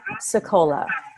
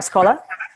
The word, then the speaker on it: Sicola: I say my name I'd say I'm sekolah sekolah instead of Scola like right so when